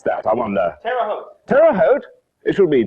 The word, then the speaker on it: Terre Haute: starts tomorrow night in ter how do you pronounce that i wonder terre haute it should be terre haute really shouldn't it indiana if you missed the